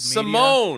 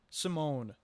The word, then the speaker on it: Simone: Old Simone. Media. It's sorry. Simone. Okay. It's not Simon. It's not spelled with an E.